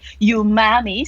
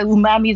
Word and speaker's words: umami: hear that you guys didn't say you mommy so it's a umami the right pronunciation thank you very much